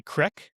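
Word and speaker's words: creek: You know how we You know how we pronounce c r e e k? Do you say crick? Crick. Crick. Parts of upstate New York say crick. But anyway, so when we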